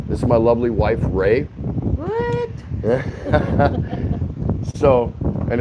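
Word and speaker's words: Rey: This is my lovely wife, Ray. What? So, and it's spelled R-E-Y, but if you want to say R-A-Y, you can call her Ray, you can call her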